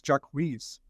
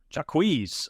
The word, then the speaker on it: Jaquez: States sent out today I think it's Jack whiz jaquez okay I like it